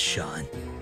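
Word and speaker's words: Seam: The name's Sean, pronounced Sean.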